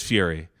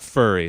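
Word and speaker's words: Furie: his last name correctly I think it's Fury the worst it is Fury yeah Matt fury it's not furry it's not Matt furry yeah okay mattur maybe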